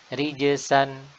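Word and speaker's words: رجسا: Ya, di Al-Quran ada rijzan, rijzan yang artinya hukuman, ya, atau azab. Dan ini menggunakan huruf zai. Ada lagi rijsan, rijsan bisa bermakna kotoran atau najis, ya, dan menggunakan huruf sin.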